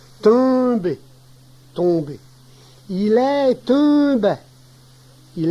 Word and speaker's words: tomber: Le verbe tomber a une prononciation difficile pour les personnes qui ne parlent pas normalement le cauchois, car ce n'est ni un, ni on, ni un, mais plutôt une nasalisation du e. Tomber, tomber.